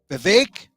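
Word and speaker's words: Vivek: a couple hours ago beake rhymes with cake the ramaswami Was preparing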